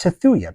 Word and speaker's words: Tthuy: That is pronounced Tethuya because Tth is t, th, so just a regular T gets a S sound after the end. If you just have a consonant, it gets the S sound after it.